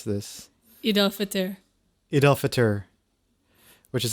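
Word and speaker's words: Eid al-Fitr: How do you pronounce this? Eid Al Fitr.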